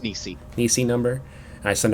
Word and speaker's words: Nisti: Here's my Nisti number, or Nisi, is it pronounced? Nisi.